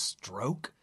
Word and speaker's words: Strzok: Is that pronounced stroke? You say it's pronounced Strzok.